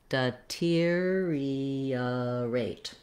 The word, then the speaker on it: deteriorate: If that's the case, then just try it syllable by syllable, slowly, and then speed it back up. That would sound like deteriorate.